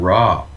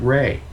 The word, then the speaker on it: Ra: Even Ra from ancient Egypt, it's not even Ra. He pronounces it Ray.